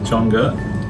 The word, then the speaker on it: Chang'e: How do you pronounce it? Chang'e.